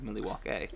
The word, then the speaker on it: Milwaukee: Yeah, which is I cannot hear the word Milwaukee without saying it's actually pronounced Milwaukee.